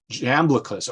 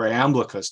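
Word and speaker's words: Iamblichus: you had a philosopher named jamblicus or amblicus depending on how you pronounce it and what he did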